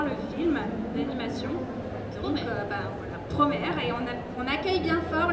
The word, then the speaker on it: Promare: Ou Promare, Promare, prononcé à la française.